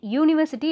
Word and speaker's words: university: And university, it starts with U vowel sound, but the pronunciation is university, U sound, not a sound.